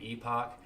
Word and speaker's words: Epoch: get that in an Epoch so not two but you know to get like eight to ten in an Epoch epic it's pronounced epic uh so people that